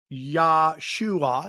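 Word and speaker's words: ישוע: And I think the teachings of Yeshua, okay, let's make sure the pronunciation is correct. Yeshua, yeah, I nailed that.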